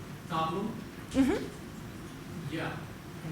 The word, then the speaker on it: Tableau: Tableau Is actually, Tableau is a French word. It's Same as the the French word equivalent.